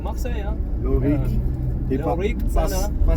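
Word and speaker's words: Cana: Et Lorik Tsana. pas Sana, Tsana.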